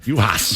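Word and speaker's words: Juhász: So I don't butcher it and have Kent Youngblood from the Star Tribune publicly correct me. So the producer, while you were collecting those Wendell Epps albums, I was texting with Abby with Lynx PR. And she was able to give me the correct pronunciation for Miss Juhas.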